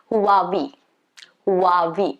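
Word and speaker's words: Huawei: it's supposed to be who are we so there is going to be a slight sound of h okay who who who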